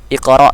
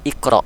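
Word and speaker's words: اقرأ: Lisbon Qalqalah yang mana bacanya bukan iqro' tapi Iqro ada pantulan dikerok bismirobbikalladzi kholaq kok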